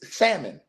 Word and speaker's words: salmon: let y'all know that the L in salmon is silent. Don't let me hear one of y'all talking about salmon. I don't want to hear y'all talking about salmon. It's salmon.